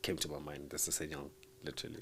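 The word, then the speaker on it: SsangYong: I thought it was Sanyong. Okay. Like you don't say the double S.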